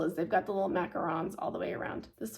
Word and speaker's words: macaron: so that's spelled correctly cringle cannot get it right they keep saying macaroons and it's not this is what they picture but this is a macaron so homeworks has it